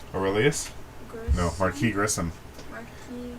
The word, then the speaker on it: Marquis: Marquis. Yeah, the S is silent.